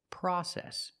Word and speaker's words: process: say process we say process use the short a sound like hot and stop the open Sound ah PR process we